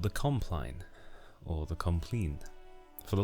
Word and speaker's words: compline: for the longest time I called compline complain because it sounded nicer to me it sounded more French the word looks French so I thought that was how to pronounce it but I've Googled it and apparently the British way is compline but anyway so the